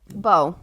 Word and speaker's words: Beau: follow his name is like how do you pronounce it be bow oh oh that's just how it's pronounced yeah